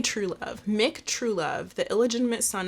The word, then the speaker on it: Trewlove: At birth, Mick Trelove. What? It's spelled Trewlove. True Love? I'm going to say True Love.